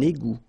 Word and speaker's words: égout: Un égout. Okay, little link between the two. Un égout. Final T not pronounced. Un égout.